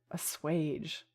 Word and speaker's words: assuage: Assuage. Oh, because it's like... Okay. It's like gauge. It's ass gauge, basically.